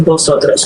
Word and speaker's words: vosotros: Well, technically in standard Spanish, this V that we have in English doesn't exist in Spanish. They have a B sound, the B. And so a lot of times when you have a word written in Spanish with orthographically with that letter V, would pronounce it vosotros with the bilabial.